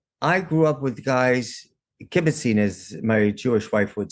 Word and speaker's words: kibbutzing: And the reason I did it like that, because I grew up with guys, kibbutzing, as my Jewish wife would say, or did I say it rightly?